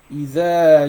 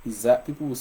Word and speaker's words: إذا: You see this surah, إذا جاء نصر الله. So either, a lot of people used to make the mistake of pronouncing the letter the. So the is the, not iza.